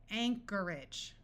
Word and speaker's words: Anchorage: Anarchy Alchemy Alchemy Anchorage notice that the o r takes on a muffled R sound and AG g at the end of a word rather than having a clear long a sound and sounding like age tends to take on an edge sound and Anchorage that's a city in